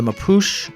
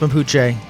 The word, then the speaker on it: Mapuche: Welcome to the age of the Mapuche Douche. I know it's pronounced Mapuche, but sometimes you just gotta rhyme.